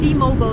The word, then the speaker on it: T-Mobile: So remember, it's in American, it's T-Mobile because Americans don't say mobile, they say mobile.